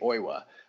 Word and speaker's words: Oiwa: as well and then i used four or five different pronunciation uh websites uh even ones that have like variants like you could put in the french pronunciation the english pronunciation you know what i'm saying that and then they have one specifically for japanese and they all say oiwa but there seems to